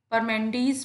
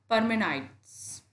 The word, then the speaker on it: Parmenides: जो name spelling है, इसको कई बार लोग परमेंडीज पढ़ते हैं, कई बार लोग पार्मेनाइडीज पढ़ते हैं, लेकिन जो सही प्रोनाउंसिएशन है, जो आपको सही जगह मिलेगा, ज़्यादातर लोग जो इस एजुकेटेड हैं, स्कॉलर्स हैं, वो इसको इस तरह से प्रोनाउंस करेंगे, परमेनाइट्स। आप इसको दो वर्ड्स में डिवाइड कर सकते हो, PARME, पार्मेनाइट्स, NIDES, पार्मेनाइट्स।